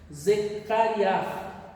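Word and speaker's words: זכריה: A pronúncia do Zacarias no hebraico, eu creio que seja isso, Zecariah. Essa é a pronúncia. Como tem um R no final, puxa um pouquinho aí da pigarra. Zecariah.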